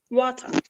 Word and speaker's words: water: australian water british water so when the t sounds like d monica and melissa once again that time we call this t as a flap t this is a part